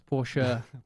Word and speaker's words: Porsche: Oh, I thought you meant, how do you pronounce Porsche? It's Porsche.